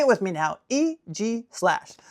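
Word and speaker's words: Aegislash: How would you pronounce this Pokemon? Guess what? It's EG slash. EG slash.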